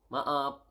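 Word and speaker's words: maaf: need to say sorry sorry is ma ma up Ma up okay s is ma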